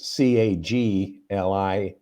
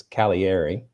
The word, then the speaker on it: Cagliari: is uh caviari okay again there's a g in there that's silent it's c-a-g-l-i-a-r-i looks like cagliari but it's calieri okay and even that's